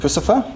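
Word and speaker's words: Puscifer: his work with tul a perfect circle and pfer hope I pronounced that correctly yes you did um but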